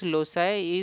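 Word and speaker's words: loci: Method of lossi and keyword method. Now method of lossi. Loi pronounced as lossi is the plural form of locus which refers to position or place.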